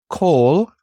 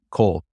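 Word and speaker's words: כל: preposition from from uh this one's pronounced coal because this is a closed on accident syllable so anytime you see the cough Lama together preceding a word just know it's an O vowel Cole uh Cole do you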